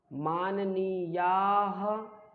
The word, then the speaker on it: माननीयाः: छात्रवृत्त्यर्थम आवेदन पत्रम माननीयाः, उच्चारण बहुत जरूरी है, माननीयाः, हा का उच्चारण ये 2 बिंदी, प्राचार्य महोदयाः, सुनाए, शासकीय उच्चतर माध्यमिक विद्यालय।